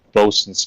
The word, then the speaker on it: boatswain: It is pronounced and sometimes spelled bosun's call.